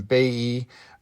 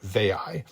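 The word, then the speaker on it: Veii: Now that may be properly pronounced in Latin Bay. Um but it is very common in English to simply call it Vey.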